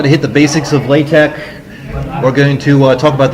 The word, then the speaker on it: LaTeX: latex I know it looks like it says latex but it's actually pronounced latex or la tech if you prefer but definitely not latex and more specifically we're here to talk about